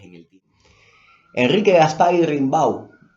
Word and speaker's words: Rimbau: el tiemp Enrique Gaspar rimbau No tengo idea cómo se pronuncia eso pero como es español imagino que se pronuncia rimbau y no rimbo como como serí en francés o algo así escribió en 1887